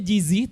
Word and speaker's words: JZY: huruf j j&w jz y benarkan nah ini dibacanya gizi tapi kok bisa namanya 3G doang karena kalau